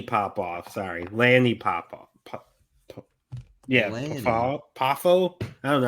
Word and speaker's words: Poffo: And we're gonna go with Larry Popoff. Who? Is that how you pronounce his last name?